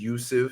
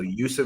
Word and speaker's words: Jusuf: I think his name is Yusuf because it's spelled Jusuf. So Yusuf Nurkic.